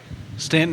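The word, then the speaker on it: Staunton: want to go Stanton Stanton is how most people pronounce it I say Stan so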